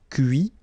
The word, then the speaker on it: cuit: Okay, so you can notice that even if I put this final T, so as usual, I don't pronounce it. Okay, conduit, construit, cuit, détruit, instruit. Okay, so a few more verbs.